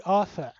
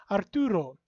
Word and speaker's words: Arthur: my name is pronounced in the english way my name would be arthur you can hear even though there's two r's there it's not pronounced if you pronounce it